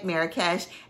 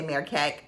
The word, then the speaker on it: Marrakesh: Marrakesh. Everybody says it different. Over in Morocco, they say Marrakesh. Sometimes people in America say Marrakech.